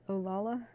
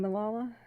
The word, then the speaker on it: Malala: Fire work in um olala you need you mean Malala oh that's one of the memes here the mispronunciation of Malala that's cool you're you're